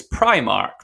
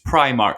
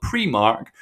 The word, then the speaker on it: Primark: and this is perhaps controversial so i've been pronouncing it as primark and that is what the company has confirmed is the official pronunciation and when you look at their marketing and their youtube channel they use primark some people call it pre-mark but in the